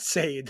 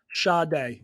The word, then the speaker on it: Sade: that up I'm pretty it's not Sade there's definitely no way why can't it be shade it's spelled s-a-d-e look at how is how is it pronounced Shaw day yeah I was right